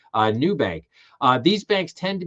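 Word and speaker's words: Nubank: Some examples include Oak North Bank, Revolute, and New Bank, and that's spelled Nub K. Uh, New Bank.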